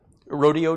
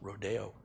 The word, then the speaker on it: Rodeo: Rodeo Drive? Don't say that. It's Philistine. It's Rodeo.